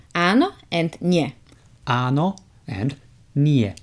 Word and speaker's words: áno: So yes in Slovak is áno. Áno. So it starts right from the beginning. There is a prolonged A with an accent.